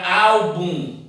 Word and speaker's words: álbum: Nós temos a palavra álbum. Então, qual é a mais forte ou a tônica? Al.